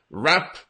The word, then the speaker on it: wrap: your mind around something and wrap the second one here the same pronunciation but something that I